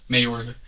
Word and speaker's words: Mayorga: Mayorga. Okay, I'm pronouncing that correctly? Yes.